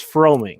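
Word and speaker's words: Froemming: it's it's tricky for baseball people but it's froming yes okay okay all right i will try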